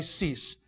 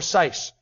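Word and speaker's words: Seiss: Cease. His last name is pronounced either Cease or Sice, depending on what part of the world he comes from.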